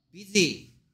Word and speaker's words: busy: 근데 여기에 L이 없는데 너는 왜 발음할 때 L이 들어있는 것 같은 소리를 내냐? Busy.